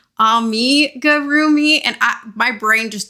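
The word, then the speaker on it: amigurumi: I automatically say amarroomi but I know that it's supposed to be ami gurroomi and I my brain just does not want to say that correctly so please forgive me.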